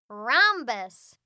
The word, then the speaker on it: rhombus: some silent syllables rehabbus the h is silent rhombus fridgey this word has